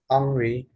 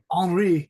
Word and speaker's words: Henri: Henri. Henri.